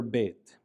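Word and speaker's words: ב: When bet has the dot, or the dagesh, it will be pronounced b, like in boy, b, like in boy. When it lacks the dagesh, it will make a V sound like in very or victory.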